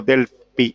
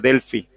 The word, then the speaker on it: Delphi: Les quiero consultar si vieron ustedes con el anterior o con los anteriores docentes el método Delphi, que se escribe Delphi, pero algunos pronuncian Delphi. P-H-I termina, ¿no? D-E-L-P-H-I.